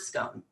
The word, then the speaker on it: scone: And she teased me straight away for my American pronunciation of the word scone. The way to pronounce that word is actually scone.